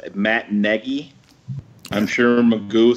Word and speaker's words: Nagy: It's actually Nagy. Neggy was the phonetic spelling that he listed. Yeah, so really? So it's Matt Nagy.